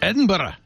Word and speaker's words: Edinburgh: It's Edinburgh.